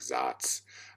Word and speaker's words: Saaz: People pronounce that different ways. Some people pronounce it like Zats. I'm not sure what it is. I call it Saz because I'm American and I don't know how to say it any other way.